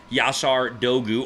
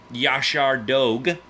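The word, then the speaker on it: Yaşar Doğu: a second here we're gonna talk about the yasar Dogu or as I've been told it should be pronounced Josh our dog dog that's what I've been told well maybe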